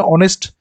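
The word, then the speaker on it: honest: আমরা বলে থাকি না অনেস্ট অনেস্ট এইচ ও এন ই এস টি এখানে এইচ টা সাইলেন্ট আছে তাহলে অনার অনেস্ট এগুলো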